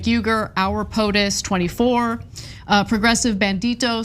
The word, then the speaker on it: Uygur: Cenk, this is pronounced like a J, Cenk, and then Uygur, Cenk Uygur.